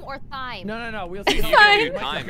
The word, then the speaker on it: Thyme: Time. The H is like silent. The herb, yeah. The H is silent, yeah. Okay, gotcha. Time like the herb.